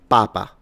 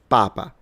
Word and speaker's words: papa: So, if I'm going to say pope, it's papa. Papa. So, the stress is on the first syllable, pa, the first part. Okay? So, it's papa, but dad is papa.